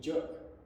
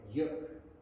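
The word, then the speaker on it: juk: dutch is a youth you don't pronounce this in the english way then it would be jerk but you pronounce it in the in in the dutch way yuk you see the connection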